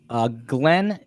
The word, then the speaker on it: Glynn: His name is Glenn, and it's spelled Glynn, Glenn Simmons.